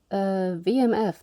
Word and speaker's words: WMF: stainless steel it's modern vmf that's how you pronounce the wmf and vmf I can use this